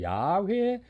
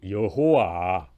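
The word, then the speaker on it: 야훼: 여호와 가 되죠 그 네 글자의 원래 발음은 야외에 였을 것이다 이렇게 추정을 하고 있습니다 그렇죠 그러나 그 야외 이름을 직접 부르는 것이 불교 남으로 해서 주님 을 뜻하는 모음을 넣어서 어이 여호와 라고 이제 발음한 사실이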